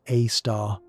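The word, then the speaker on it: Sagittarius A*: Sagittarius A asterisk, pronounced A star, sits there like a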